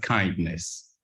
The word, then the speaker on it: KINDNS: you Stefan so uh people used to ask how do we pronounce these complicated name right but it's it's quite simple it's just kindness um so it's an